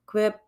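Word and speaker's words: Québec: And now the blog of Quebec Quebec, that's how you pronounce it.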